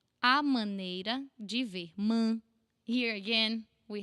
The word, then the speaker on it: maneira: A, open, this A that is super open, we use it a lot. A, man, like ban, but with M. Maneira, maneira, eira. Again, this A from the say, you put here on the eira.